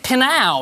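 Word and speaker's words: Pnau: Which Sydney electronic duo said that their four-letter name should rhyme with meow? Yes, Ella's team. Pinyow. It is Pinyow.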